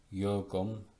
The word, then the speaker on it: jugum: in the Latin word jugum or jugum. Jugum, that means yoke, is pronounced as the Y in the English word yurt, as yurt.